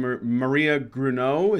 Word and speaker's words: Gruneau: I see that aside from Maria Gruneau, is that how you say it?